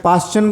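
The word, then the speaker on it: Paschen: series का पाचन में पाचन बोल रहा हूं बच्चों लेकिन आप बुक में पास लिखा है वह उच्चारण है चाहे आप कैसे भी बोल सकते हैं नाम है साइंटिस्ट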